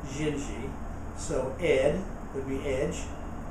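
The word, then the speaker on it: Dindi: every now and then down there they pronounce everything that's D's they pronounce it as a g as in the tune xinji it's D you know it's d i n d i n when they pronounce it jingi so Ed would be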